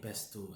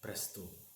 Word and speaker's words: pesto: Does the scent of fresh basil take you back to penne pesto and that little Italian place outside our stage, La Bella something? Of course, you always mispronounced it presto.